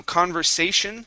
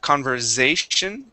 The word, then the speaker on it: conversation: go good okay um conversation um this s in the middle is an unvoiced S instead of conversation conversation conversation try that conversation there you go okay let's go to